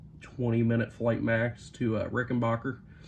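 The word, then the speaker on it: Rickenbacker: minute flight Max to rickenbacher Rick and Backer how depending on who you ask you'll get two different pronunciations of that airport but uh heading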